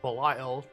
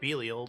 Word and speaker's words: Belial: I feel like the voice director doesn't know how to pronounce words. Promo. There's an extra E at the end of Bade. It's Belial, not Belial.